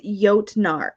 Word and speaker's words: Jotnar: Okay, Kristen says Jotnar. Oh, yeah. J pronounced like a Y.